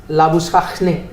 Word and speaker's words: Labuschagne: his actual surname is Labuschachne, which is a South African.